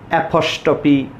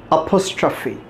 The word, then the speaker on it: apostrophe: They are in habit to pronounce the word as apostrophe, apostrophe, or something really funny sometimes. Friends, the exact pronunciation of the word is apostrophe.